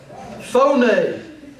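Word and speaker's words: φωνή: Phone. Everybody pronounce that. Phone.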